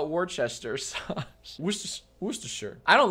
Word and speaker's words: Worcestershire: we're warchest we're just worcestershire sauce i'm going to look that up aaron can pronounce but who cares worcestershire worcestershire worcestershire can pronounce worcestershire sauce worcestershire wooster sure it is yeah i'm looking it